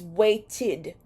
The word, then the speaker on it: waited: That final sound is a T sound, T sound, and you know that the T sound verbs are pronounced as id. So the past tense of wait is waited or waited.